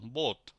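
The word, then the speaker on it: Boot: বোট বোট মানে নৌকা এটার উচ্চারণ হবে লং বোট ও এর মত উচ্চারণ বোট আবার পরেরটাই দেখি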